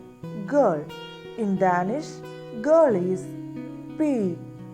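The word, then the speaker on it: pige: And G-E is almost soft and it is unstressed oo sound.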